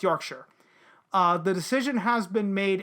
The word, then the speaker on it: Yorkshire: It's not Yorkshire. No, it's Yorkshire.